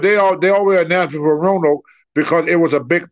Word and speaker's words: Roanoke: John tips you $5, and he's wondering how many years you actually lived in Rhine Oak for. I live in Roanoke? Roanoke, yeah. Sorry, I'm pronouncing it wrong.